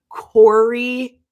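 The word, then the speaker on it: Kouri: It is the uh Corey Richens. It's spelled K O U R I Richens.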